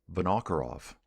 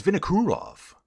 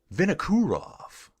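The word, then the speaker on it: Vinokourov: One of the pro commentators called him Vinoarov. Dude, it's Veno. It's Vinurov. Vinurov. Please tell me it's not Vinov because I've been saying it wrong my whole life.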